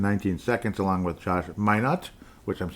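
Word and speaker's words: Minott: Leonard Miller finally got out there, played 2 minutes and 19 seconds along with Josh Minot.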